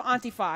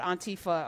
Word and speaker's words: Antifa: You're one of the founders of Antifa. And I remember having you on about 4 years ago talking about Antifa or Antifa. How do you say it? Is it Antifa?